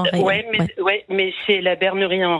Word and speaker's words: Retz: Je dis bien en Ré. Ça s'écrit en Retz, mais on dit en Ré.